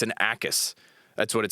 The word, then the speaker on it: Jacas: It's Jacas. Yeah. Okay, thank you. It's not a Yakis, it's an Akis.